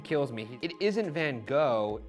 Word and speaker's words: Van Gogh: I know all you art nerds out there are like, it's actually Van Gogh or Goff or whatever. It's pronounced Van Gogh. I think if I were to pronounce that properly, it would take an enormous amount of effort and it would come off as me being pretentious.